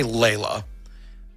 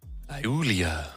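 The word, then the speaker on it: Laelia: Plays nicely with, I'm going to say Layla. How do you say that? Yeah, I've been calling it Layla. Yeah. It's Iulia.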